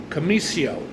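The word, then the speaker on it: Commisso: song by Chris uh I believe his last name is pronounced kamio c o m m i SS o he's he's quite a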